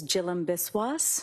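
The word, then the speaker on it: Jhilam Biswas: Yes, my name is Jill Biswis. My first name is spelled J H I L A M.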